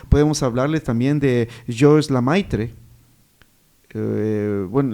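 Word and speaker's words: Lemaître: Podemos hablarles también de George Lamaitre, eh, bueno, el apellido se pronuncia Lamaitre, creo que es francés.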